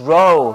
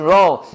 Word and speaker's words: roe: Flying fish roll. 자, 한국 사람들은 여기다 액센트 안 넣어요. Flying fish roll 이렇게 하는데. Flying fish roll 아니야 뭐야?